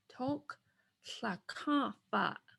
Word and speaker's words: Toklakapa: We've got a tongue going up, t, mid-open mouth, rounded, O, tongue back, k, toke, toke.